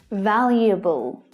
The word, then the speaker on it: valuable: The first common mistake is assuming that there are 4 syllables, but there's not, there's only 3. And the first syllable, val, is the stressed syllable, the strongest one. But the second syllable is quite tricky. There's an extra consonant sound added, one that you can't see in the written word. Y, y, you. Valuable, valuable.